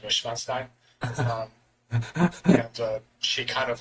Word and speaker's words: Neuschwanstein: It's like, and like I said it in its German pronunciation, Neuschwanstein.